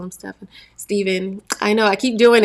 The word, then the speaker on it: Stephen: I don't I don't every time I see a pH I want to say Stefan it's so funny stepen